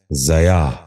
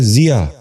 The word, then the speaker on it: ضیاء: غور سے سنیے، ضمن۔ ساتواں لفظ ہے ضیاء۔ یہ غلط تلفظ ہے، درست تلفظ ہے ضیاء۔ دوبارہ سنیے، ضیاء۔ بچوں